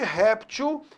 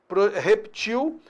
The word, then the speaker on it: reptil: Apenas no caso da questão aqui, você tinha lido anteriormente rptil e projétil, quando na realidade a pronúncia é o quê? Reptil, projetil.